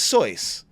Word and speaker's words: Seuss: important was when he pulled out a Dr Seuss book and he was like oh yeah but he's German so his name is soy which is how it's actually pronounced it's pronounced